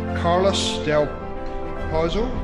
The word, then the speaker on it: Carlos del Pozo: am really excited today to be joined by carlos del proposal that pronounce that correctly you got it yeah cool